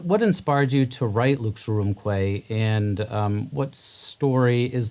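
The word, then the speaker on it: Lux Aurumque: um so what what inspired you to write luke's room clay and um what story is the piece telling ah well first your pronunciation of it is spectacular oh good you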